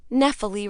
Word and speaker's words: Nephil: Nephil rhymes with especially is what mom used to tell me to tell people.